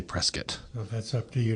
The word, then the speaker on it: Prescott: named Prescat, but also why we pronounce it Prescuit versus the very English Prescott.